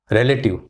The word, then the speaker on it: relative: Okay, the second word is relative. Relative. Three syllable. Relative. Relative. It's not relative that we Indians say mostly of the time. It is relative because re has got stress.